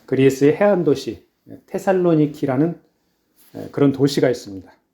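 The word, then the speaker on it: Θεσσαλονίκη: 영혼의 우리가 함께 라는 말씀은 사도 바울 일행이 데살로니가 에서 전도한 내용입니다 아 바울 당시 데살로니가 는 올라 레그 그 에이스의 보면은 으 그리스 해안도시 테살로니키 라는 그런 도시가 있습니다 에 거기에 당합니다 뭐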